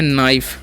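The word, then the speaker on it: knife: पास कोई नहीं है के आई इस पढ़ते है नाइफ ठीक है य पर के साइलेंट होता है इस बात का आपको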